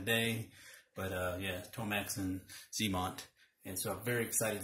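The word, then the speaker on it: Xamot: I said Xmont. I think that's how I used to pronounce it back in the day. But yeah, Tomex and Zemont.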